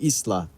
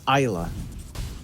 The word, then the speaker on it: Isa: someone scolded me for saying Isla and it's Isa so I got scolded and I'm I swear you're one of the ones who are like oh John I'm from the region I know the pronunciation so that just came into my mind like I want to say it to you I'll give you the credit it is ISA bottom Lane he is